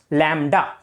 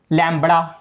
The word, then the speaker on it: lambda: लैम्डा अगर इसका spelling बताऊं तो वो होते हैं LAMBDA, लैम्बड़ा, पर इसको बोला जाता है लैम्डा। बी मत बोल देना साथ में और लैम्बड़ा बन जाएगा।